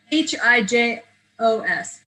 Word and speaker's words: hijos: H is silent. So it's H-I-J-O-S. Hijos. H-I-J-O-S.